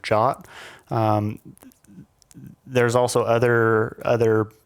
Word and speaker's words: JWT: defining tokens like JWT which is pronounced like the English word jot um there's also other